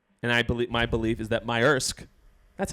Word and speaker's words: Maersk: And my belief is that Maersk, that's how you pronounce it.